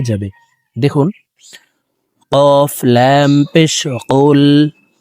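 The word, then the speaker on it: قُلْ: দেখুন, কফ লাম পেশ কুল, হা পেশ হু, কুল হু। আমরা অনেকে কুল পড়ে থাকি, কুল। দেখুন, কফ হরফের উচ্চারণ জিহ্বার গোড়া তার বরাবর উপরে তালুর সঙ্গে লাগাইয়া পড়তে হবে।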